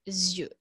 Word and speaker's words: yeux: de dieu vous savez qu'en français les yeux se prononcent différemment au singulier au pluriel donc au singulier ça se prononce un oeil et au pluriel des lieux donc ce sont des